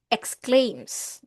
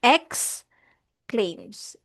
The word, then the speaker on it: exclaims: Ito ay exclaims. Okay? Shak she exclaims. You didn't. All right. So ang pronunciation natin dito is X claims. Exclaims.